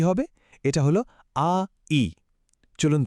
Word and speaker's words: 矮: এর উচ্চারণ হল আই। এখন চাইনিজ ভাষার একটা দারুণ ব্যাপার হল এর টোন, মানে একই উচ্চারণের শব্দ শুধু গলার স্বরের ওঠানামার উপর ভিত্তি করে বদলে যায়। এই শব্দটার জন্য স্বরটা একটু নিচের দিকে নামিয়ে বলতে হবে আই।